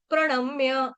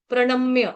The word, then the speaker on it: प्रणम्य: का सुनाई पड़ना चाहिए प्रणम्य ण बाण का ण जो है वो बाण का प्रणम म्य म्य म्य म मैं मैं नहीं बोलेंगे इसको म्य है म्य मतलब जैसे बिल्ली म्याऊ म्याऊ करती है म्य ठीक है